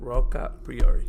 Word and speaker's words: Roccapriore: And now I'm with a new guest, Ashley Roccapriore.